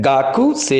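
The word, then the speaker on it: 学生: Student, student में भी मित्रों ये ध्यान देंगे, इसे GAKUSEI लिखा जाता है, गाकू से ही, बट इसे गाक से पढ़ते हैं, गाक से।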